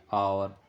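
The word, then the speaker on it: hour: जैसे और, और में एच की साउंड नहीं आ रही तो एच हमारा यहाँ पर साइलेंट है।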